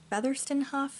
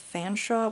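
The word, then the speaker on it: Featherstonehaugh: brother, Harry Featherstonehuff, or Featherstonehuff? I don't know. Their last name is spelled really crazy. So the name looks like Featherstonehuff, but I believe it is actually pronounced Fanshawe, which makes no fucking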